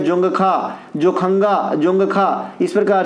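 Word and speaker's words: Dzongkha: इसके अलावा भूटान की भाषा ये ज़्यादा पूछता है, इसका नाम है जोंगखा, जोखंगा, जोंगखा, इस प्रकार से। देखिए इस प्रकार से, इसमें डी साइलेंट रहता है, फिर लिखते हैं अंग्रेजी में, हिंदी में इस प्रकार से जोखंगा, इस प्रकार से।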